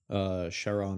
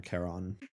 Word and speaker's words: Charon: Charon or Charon. Yeah, I like the Chiron pronunciation.